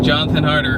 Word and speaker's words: Jonathan Harder: same one all right Jonathan harder what is your YouTube channel my youtube channel is jonathan harder just out sounds it's spelt jo hn a tha in and then harder like it sounds harder